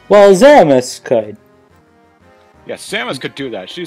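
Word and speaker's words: Zeromus: Oh, that's how you pronounce it. Yeah, Zeramus. That's how I pronounce it. Okay. Zeramus.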